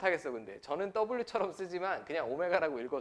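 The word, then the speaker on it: ω: 특별한 이차방정식의 한 허근을 W 아니고 오메가라고 읽는다고 했죠 그리스입니다 그리소 a 알파랑 다르듯이라고 읽으시면 안 되고 오메가라고 읽으셔야 돼요 대로 이렇게 쓴다라고 했죠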